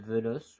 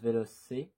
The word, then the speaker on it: Veloce: Alors, ça doit être Veloce, mais moi je prononce Veloce, comme en italien ou en espagnol.